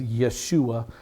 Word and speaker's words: Yeshua: J's are always translated as wise, pronounced as wise, like the name Jesus. A proper Jew would never say Jesus. His name is Yeshua. This man, Joab's name is Yoav. Yoav, and he is David's nephew.